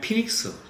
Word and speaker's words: 피닉스: 항구라 베니스라고 되어 있는데 영어로 발음하면 피닉스 피닉스이 크레테의 섬에서이 피닉스라고